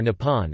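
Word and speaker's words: 日本: The Japanese word for Japan is Re-ben, which is pronounced Nihon or Nippon and literally means the origin of the sun.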